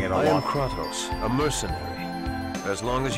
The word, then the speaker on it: Kratos: Also, important thing to keep in mind, in this game they pronounce it Kratos. If you come from God of War, they pronounce it Kratos over there, so and that's how you know the difference.